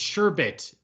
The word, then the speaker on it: sherbet: excuse me no hey it's it's sure bit but people have just added the r to it over time that's the second R like as a pronunciation thing uh sorbet I believe